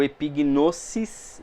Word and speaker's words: epignosis: Lembrando que a gente, o sigma, o S dentro do grego, ele não tem som de Z, tá? Então aqui algumas pessoas falam gnosis, Às vezes até eu falo, às vezes a gente acaba... Claro, a pronúncia é importante. Não é tão importante, mas é legal a gente falar da maneira correta, Então o epignosis, sempre esse sigma vai ter som de C e não de Z, Então o nosso